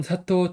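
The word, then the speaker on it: 佐藤: 22번은 사토 테르아키입니다. 그래서 사도라는 성 굉장히 많죠. 그래서 한자는 도자, 등나무 등 빛날휘, 밝으면 도자는 사라고요. 운동으로 등나무 등은 여기서는 토 그다음에 빛날 휘는 테루 그다음 밝명은 아키라고 있습니다.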